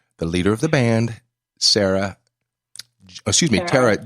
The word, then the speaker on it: Tarah: Matt Pelcher, and also the leader of the band, Tarah G. And or better known as Tarah. And my wife wanted to verify, is it Tarah or Tarah? Tarah. Okay, so Tarah.